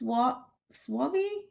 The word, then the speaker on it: Swaby: And Miss Swaby, am I saying it correctly? It's Swaby.